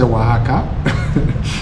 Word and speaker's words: Oaxaca: So we finally learnt how to say Oaxaca even if it's spelled very differently is how you pronounce it.